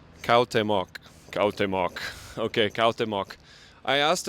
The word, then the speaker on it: Cuauhtémoc: Cuauhtémoc. Cuauhtémoc.